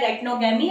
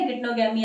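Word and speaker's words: geitonogamy: तरह की जो है गाइटनोगैमी या गिटनोगैमी आप इसे प्रोनाउंस कर सकते हैं।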